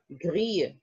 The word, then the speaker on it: gris: It's not, remember, we do not pronounce the S's at the French end of French words. Yes. It would be il a les yeux gris.